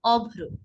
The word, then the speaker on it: অভ্র: যেমন অভ্র, অভ্র, দেখুন দুইবার আসছে অভ্র।